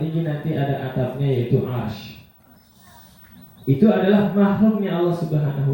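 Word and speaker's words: عرش: Bacanya arsy bukan arsyi ya. Arsy ain ro syin arsy.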